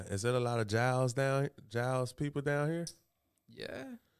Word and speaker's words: Giles: People like Gillis. Yeah. Giles. When I seen it, I was like, oh, that's Giles.